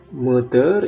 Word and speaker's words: moteur: Kemudian lieu ini tempat, moteur itu penggerak, peu sedikit, professeur itu profesor, dosen, seul sendiri. Jadi di sini de huruf terakhir tidak dibunyikan, lieu, tapi kalau moteur itu r-nya dibunyikan. Kemudian profesor juga.